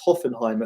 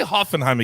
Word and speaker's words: Hoffenheim: season in germany but they lost 3-1 against hoffenheim at the weekend and hoffenheim have not been